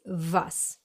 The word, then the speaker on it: was: Most native English speakers would pronounce this letter as W, but in German it's pronounced as a V, like in the English very or video or van.